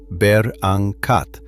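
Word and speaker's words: berangkat: The word that gets you a straight answer is bangat, pronounced beranc, meaning depart.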